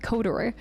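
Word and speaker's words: KOTOR: campaign in codor also the dev started pronouncing swod to rhyme with kodor as a marketing gimmick during development so swor cotor there was a long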